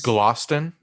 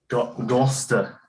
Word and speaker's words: Gloucester: know where that is glosston gosta gosta like augusta but just gusta i guess so it's not easy